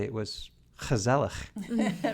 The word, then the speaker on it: gezellig: said, that they might even say it was gezellig.